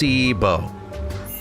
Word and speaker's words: placebo: to our vocabulary today repeat after mebo the stress is on the middle syllable uh plus CBO very Place good you're